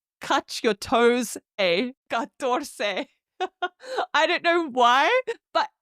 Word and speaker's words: catorce: Now, moving on to 14, catorce, which is spelt C-A-T-O-R-C-E, catorce.